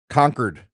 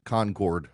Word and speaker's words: Concord: Just got a email from a listener telling me that uh Concord, Massachusetts pronounces the name Conquered. Conquered, not Concord.